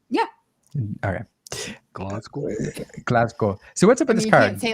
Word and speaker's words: Glasgow: Glasgow, if you're in that area. Did I say it right? Yeah. Okay. Glasgow.